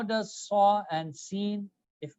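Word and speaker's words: س: And seen is seen. This W brings a kind of heaviness with the filled mouth. Sad, seen. All right. Sadr means chest or chest. Seen, salam, salamun alaykum.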